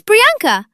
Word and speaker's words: Priyanka: You can say, it's Priyanka. The pry sounds like tree, but never abandon your name just to make someone else comfortable.